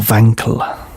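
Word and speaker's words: Wankel: Wankl which is an interesting name or Wankl if you're German. So that's how you would pronounce it cuz a W in German is pronounced as a V.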